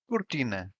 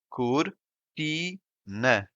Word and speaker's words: cortina: Cortina, which is Portuguese for curtain. The stressed syllable is in P, so both O and A are shut. Cortina.